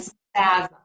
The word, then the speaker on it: spasm: on ourselves here and we are going to say a z for the letter s before a voiced sound in words like wisdom cosmic and spasm so again wisdom cosmic and